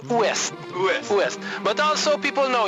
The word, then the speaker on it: Ouest: In French, we don't spell W-E-S-T. It is O-U-E-S-T. O-U-S-T. It is pronounced Ouest.